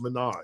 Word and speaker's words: Minaj: Monet or the Minaj you told me it's pronounced Minaj I I did apparently